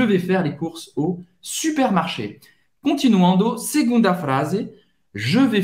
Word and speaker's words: supermarché: Então, supermercado, super, você vai pronunciar esse R, supermarché.